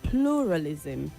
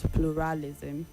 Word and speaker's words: pluralism: It is pluralism and not pluralism. The stress is on the first syllable.